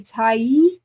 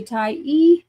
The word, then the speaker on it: Tyee: So always say Tai. Make sure you say Ty.